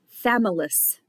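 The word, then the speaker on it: Chthamalus: a small Barnacle called families the CH is silent these are two hard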